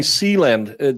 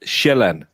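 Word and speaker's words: Sjælland: I'm saying sealand. That's how in Denmark we don't call it that. We call it shellan because the j makes a j sound.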